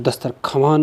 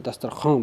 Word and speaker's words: दस्तरख्वान: पढ़ा जाएगा जैसे लफ्ज़ लफ्ज़ है दस्तरख्वान कि दस्तरख्वान नहीं बोलते दस्तरखान बनते हैं ऐसे ही ख्वाहिश लिखा